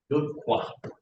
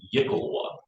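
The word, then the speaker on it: iklwa: Me, I've always had this, how do you pronounce this thing? Good qua. Oh, it's a Yickelwa, yeah.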